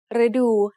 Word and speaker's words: ฤดู: One example is the word ฤดู which means season. The short vowel รึ acts like a combination of รอเรือ and สระอึ for the tone rule as well as for the sound. So the word ฤดู has 2 syllables.